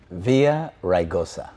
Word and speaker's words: Villaraigosa: քաղաքապետ բարոն Անտոնիո Վիլլագրոսան։ I said it wrong. Villaraigosa. There you go.